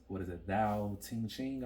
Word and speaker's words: Tao Te Ching: I'm reading I read the Tao Te Ching, I believe it's pronounced.